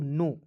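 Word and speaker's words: know: को पढ़ेंगे दोस्तों नो, के एन ओ डब्ल्यू को क्या पढ़ेंगे दोस्तों, नो पढ़ा जाएगा, ठीक है। अब कहिएगा सर जी इसे नो क्यों ना पढ़ेंगे, क्योंकि दोस्तों इसमें के को साइलेंट रखना है, ठीक है।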